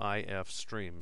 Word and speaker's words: ifstream: [Pronounced I-F streem] So this line here is just a declaration of a variable.